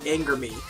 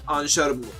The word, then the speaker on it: ANGERME: They are spelled, it's a shortening of two French words put together. For those of you that don't already know, who haven't been keeping up, as Angers and Larme, if I'm not mistaken. I'm not very good with pronunciation. I haven't practiced French in like 7 years. Which is basically angel's tears. So that's a whole entire ANGERME is kind of the way it's supposed to be said.